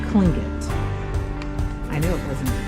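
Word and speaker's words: Tlingit: So the T is a K. He said it's Klingit.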